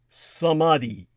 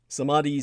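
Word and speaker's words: samadhi: deep meditation and finally samadi samadi spelled s m a DHI it is the union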